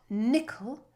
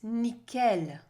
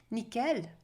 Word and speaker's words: nickel: nickel well it's not nickel it's nickel pronounced everything at the end all the weight at the end nickel and the i in